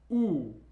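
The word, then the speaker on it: У: The next letter is U. U. It looks like a Y, but pronounced with an oo sound.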